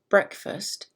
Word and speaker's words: breakfast: the word breakfast now in the word breakfast this is a two-syllable word and the emphasis is on brick so listen to just